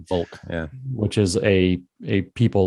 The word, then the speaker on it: Volk: And then the other is the one that's derived from the V word in German that's pronounced the same way. Volk, which is a people